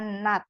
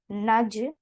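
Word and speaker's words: 낮: Ini nanti bacanya nat ya. Bukan naj, bukan, tapi nat.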